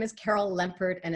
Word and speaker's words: Lempert: And my name is Carol Lempert, and it's spelled Lem like lemon, P like Peter, ERT.